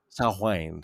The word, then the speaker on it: Samhain: It is spelled Samhain, but it is pronounced Oh, Samhain. hi. Samhain.